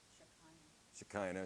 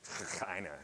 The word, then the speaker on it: Shekinah: How I've heard it pronounced in like religious circles is Shekinah.